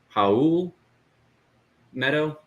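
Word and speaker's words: Raul Neto: then um i found out it's actually um haul meadow yeah that's how you pronounce his name not real it's how meadow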